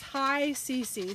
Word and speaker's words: HICC: for comfortable so h-i-c-c and the way you pronounce it is high cc so it's like hello clean and comfortable that's